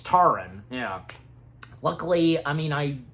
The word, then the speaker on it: Taran: So Tarwin, Tarin, he um I'm saying Tarwin. I'm Tarin. It's Tarin.